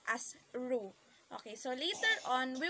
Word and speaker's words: roux: u x so in kokiri terms it is pronounced as ru okay so later on we will discuss what